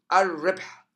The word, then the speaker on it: الربح: The lam disappears and the ra mushaddada. الربح الربح الزكاة الزكاة الزكاة.